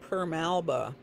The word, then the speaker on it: Permalba: um this and permalba i have a tube of that somewhere but it's spelled exactly like it sounds p-e-r-m-a-l-b-a um these two whites